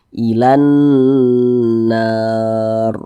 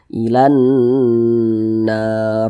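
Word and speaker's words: إلى النار: Cara bacanya itu digunakan tuh didengungkan. Jadi suaranya itu kita tahan, kita panjangkan sejenak. Ilan nar. Nah, kita panjangkan seperti itu. Ilan nar. Nah, panjangnya itu 2 harokat.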